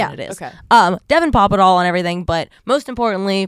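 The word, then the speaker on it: Papadol: that today on Instagram someone asked how to pronounce my last name I was like oh yeah that actually makes sense papad papa papa doll Papa doll it looks so much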